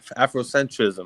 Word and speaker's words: Afrocentrism: that afrocentrism um is it Afrocentric ISM or afrocentrism my bad that's how you pronounce no no no no it's afrocentrism I